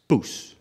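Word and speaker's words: poes: It's spelled P-O-E-S. And it's just pronounced poos.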